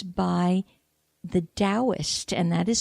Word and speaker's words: Taoist: and it's by the Taoist and that is spelled T it Taoism starts with a T not a D but that it's pronounced as D so T for Thomas